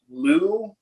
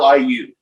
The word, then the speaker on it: Liu: uh professor junction and i'm probably gonna say it wrong lou it's liu uh and he said